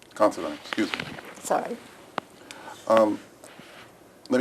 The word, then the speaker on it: Considine: Um, Miss Considine, um, you're here for your deposition. Do you understand that? Yes. I'm just a point. My name is pronounced Considine. Considine.